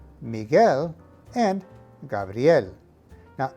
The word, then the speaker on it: Gabriel: are pronounced miguel and gabriel now make sure to combine the two sounds of brie and l into one sound with the emphasis on the l gabriel got it let's